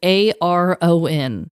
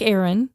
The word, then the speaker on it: Aron: Anyway, she wrote back and she's like, actually, it's pronounced just like Aaron, even though it's spelled like Aaron.